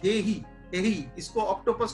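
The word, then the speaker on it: he'e: और उसके साथ ये हेई, हेई, इसको ऑक्टोपस को बोला गया हेई, HEE है, हेई, इसकी प्रोनाउंसिएशन क्या होगी एग्जैक्टली, तो हेई बोलते हैं।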